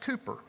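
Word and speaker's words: Cowper: some say it's pronounced William calper he's spelled it c-o-w-p-e-r I've been told by historians that he pronounced it Cooper William Cooper wanted to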